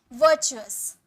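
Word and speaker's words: virtuous: पुण्य, वर्चुअस, वर्चुअस, आर का sound यहाँ भी नहीं आएगा, वर्चुअस, वर्चुअस, इसे चू बोलेंगे, ठीक है, वर्चुअस मतलब पुण्य।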